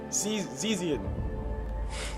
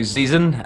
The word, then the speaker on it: Zeazin: His name is a name that I keep butchering, so I'm going to say it wrong on purpose. Just let you know I'm saying it wrong on purpose. Zeazin. Close. It's my name is actually Zeazin.